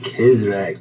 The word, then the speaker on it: CizreK: Oh, hey, it's pronounced Kizrek, but Kizrek.